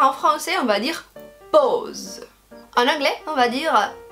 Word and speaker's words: pause: Mais en français, alors le A-U, ça donne O. Et ça n'arrive pas partout. Alors en français, on va dire pause.